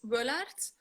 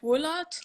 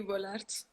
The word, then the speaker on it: Wullaert: Tessa, how do I pronounce your last name so I don't completely butcher it? Well, in my language, it's Wullaert, but like in German, well, when I played in Germany, they said like Wullaert or something.